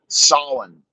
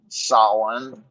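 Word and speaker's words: Samhain: made one for uh Solon which is spelled Sam Hayne s-a-m-h-e-i-n Solon the Harvest Festival of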